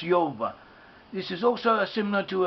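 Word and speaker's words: Jove: the Romans was called job job was properly pronounced Yoba this is also similar to a a possible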